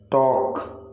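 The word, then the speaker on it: talk: आपका next word है बातचीत, बातचीत का मतलब है टॉक, टॉक। तो आपका टॉक में जो साइलेंट लेटर है वो है एल, आप टॉक को प्रोनाउंस करते समय एल को यूज नहीं करते हैं।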